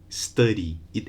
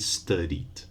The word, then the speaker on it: studied: just cried okay so another example would be the verb to study study it ends in a vowel so in the past you just add the studied without an extra vowel so not study it or or cry it but cried and studied okay now in the